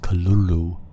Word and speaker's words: Cthulhu: the call of cthulhu cthulhu or kalulu as some would say it's pronounced was considered a great